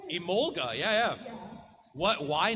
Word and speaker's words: Emolga: I've only played a few games, but it's Emolga? Is that how you say it? Emolga, yeah.